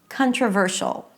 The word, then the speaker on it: controversial: So, let's take the word "controversial". You know that the primary stress should be before the suffix.